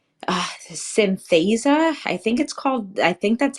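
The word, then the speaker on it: Synthesia: I was going down that laundry list is one called Synthesa. I think that's how it's pronounced. Synthesa. It's Synthesa.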